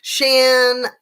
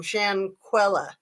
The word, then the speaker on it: Shanquella: Shanquella is how you say it. Oh, Pixie Knickers, you're the bomb. Shanquella.